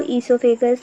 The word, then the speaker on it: oesophagus: फिर ईसोफेगस के माध्यम से OESO, ईसो, है ना, ओ साइलेंट है इसमें, ईसो, ईसोफेगस, PHAGUS, फेगस, डन।